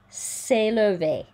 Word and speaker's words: s'élever: C'est à l'humanité de, rhymes with ne, de s'élever. A, there's that sound again, we've seen several times. S'élever, rhymes with réparer.